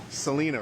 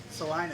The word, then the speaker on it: Celina: Celina, right? Celina.